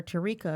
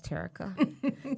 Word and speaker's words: Terica: I called her Tarika a minute ago. She says, no, it's Terica.